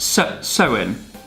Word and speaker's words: Samhain: ancient Celtic festival of Samhain pronounced sir soin oh I probably should